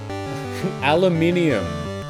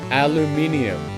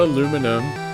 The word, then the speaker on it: aluminium: to reward you uh aluminium is the correct way to pronounce that word aluminium there is a second I it is not aluminum I know what you